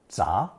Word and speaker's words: 咱: Our fifth new character adds a mouth radical, chòu, to 自 to create a contraction of 自家, pronounced second tone, 杂.